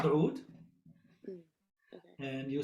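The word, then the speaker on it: oud: it this way and you have an accent on the o sound in the beginning so oh so basically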